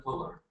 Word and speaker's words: Pleuler: It's just my first and my last name, Pleuler. That's Pleuler, correct?